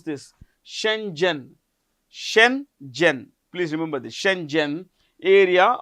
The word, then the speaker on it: Schengen: How do you pronounce this? Shenzhen.